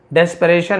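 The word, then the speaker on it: desperation: इन डेस्परेशन लिखा हुआ है, देखिए डेस परे TION को शन पढ़ा जाता है, डेस्परेशन।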